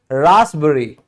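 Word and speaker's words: raspberry: P silent होता है, जैसे रासबेरी, रासबेरी, यहां पे एस पहले आ गया, देखो पी से पहले एस आ गया, यहां पी के बाद की बात की जाती है, इसीलिए ये एक्सेप्शन है कि आप फिर भी पी को साइलेंट ही बोलोगे।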